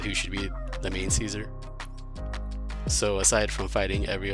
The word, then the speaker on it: Caesar: The show basically confirmed that they were saying it wrong, though, that it should be pronounced Caesar, not Kaiser.